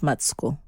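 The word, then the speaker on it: Matsiko: means peace and matsuko means matico is actually pronounced matsuko yes which means hope and um andan is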